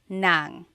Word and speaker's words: ng: And then if you want to add an object, the sentence marker here is n g nang.